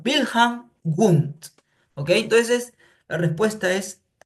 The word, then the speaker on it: Wilhelm Wundt: Claro, normalmente se escribe Wilhelm Wundt, se pronuncia Wilhelm Wundt.